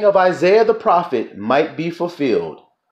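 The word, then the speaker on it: Esaias: it says here isaiah isaiah's his name is isaiah you see you know that's how it's spelled e-s-a-i-a-s isaiah did you all hear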